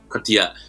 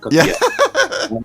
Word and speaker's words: Cotillard: Cotillard. I think it helps you just put on a sort of hello accent. Cotillard.